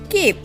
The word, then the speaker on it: cape: Children, after adding letter E, cap word turned into cape. A, you can hear the letter A by its own name. A. P. Cape. Here E is silent.